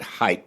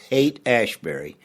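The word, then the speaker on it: Haight-Ashbury: specifically coming out of hate ashberry and if you're not familiar with hate ashberry h AI G HT ashberry some people pronounce it height but it's hate ashberry in the early 1960s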